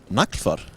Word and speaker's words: Naglfar: Okay, CCP Gargant, can you please tell everybody listening to the stream what the correct way to say the vertical Minmatar Dreadnought is? Naglfar.